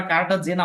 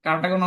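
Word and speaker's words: Cartagena: আরেকটা হচ্ছে কারটাগোনা প্রোটোকল এটার উচ্চারণ কিন্তু তোমরা কারটা জেনা অনেক কিছু দেখতে পারো কারণ বিভিন্ন ভাষা থেকে কনভার্ট করতো তো একক জায়গায় একটা থাকবে এটা হচ্ছে কারটাগোনা হচ্ছে কলম্বিয়ার একটা জায়গা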